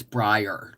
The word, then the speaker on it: Brier: really can't El Linda his name is spelled like Brian b r i a but with an r on the end instead of uh an N it's Brier like Brian but with